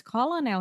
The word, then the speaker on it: Colonel: Eh, It's so hard because colonel here is with L, and I'm reading, so it's coronel, right? Colonel. Colonel Sanders.